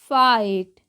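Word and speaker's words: fight: नहीं फी गट नहीं फाइ गट नहीं क्या पढ़ेंगे सीधा फाइट उसी तरीके से आर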